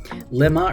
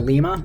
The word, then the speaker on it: limma: analyzing the microarray data lima or lima i've heard it pronounced both ways is how we're going